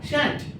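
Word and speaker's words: shan't: এবার দেখো এই যে আমরা শ্যাল উচ্চারণ করি না, যদি আমরা শ্যাল নট একসঙ্গে উচ্চারণ করি তাহলে কি হবে? শ্যান্ট। কি হবে উচ্চারণটা? শ্যান্ট, এস এইচ এ এন অ্যাপোস্ট্রফ টি, শ্যান্ট।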